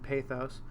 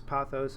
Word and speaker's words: pathos: that p-a-t-h there and pathos some people pronounce as pathos I do sometimes so you can refer to it either way but this has to do